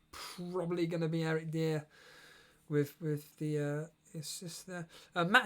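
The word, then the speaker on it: Dier: It's pronounced Dyer, right? Okay. Dyer, yeah.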